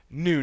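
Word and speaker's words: gnu: cruising for a bruising new new as we're going to call him because anyone who doesn't think that g is silent is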